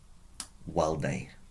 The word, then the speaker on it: valde: Walde, remember the V is pronounced as a W.